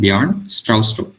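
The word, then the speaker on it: Bjarne Stroustrup: was uh developed by the arn it's pronounced pronounced beyond strauss uh it was developed in 1979 so this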